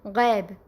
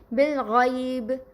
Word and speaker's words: غیب: یائلین کی مثالیں پہلے بالغیب، غیب یعنی کہ اسے غیب عربی لب لہجے میں پڑھا جائے گا. اردو لب و لہجے میں کس طرح پڑھتے ہیں؟ غیب، غیب. ٹھیک، اسے ہم اس طرح عربی میں نہیں پڑھ سکتے. اسے ہم پڑھیں گے بالغیب، علیہم، علیہم، طیرن.